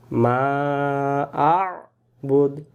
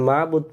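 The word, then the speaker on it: ما أعبد: আমরা যদি এখানে মাবুদ পড়ি তাহলে একবারই ভুল হয়ে যায়, দেখেন অক্ষর বাদ চলে যায়, বাদ গেলে আপনি কি করে উচ্চারণ করেন।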